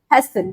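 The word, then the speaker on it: hasten: next word है हमारा हसन क्या बोला मैंने हसन ठीक है नाटी साइलेंट है इसमें लेकिन इसको हैसन ही पढ़ते हैं तो इसका क्या मतलब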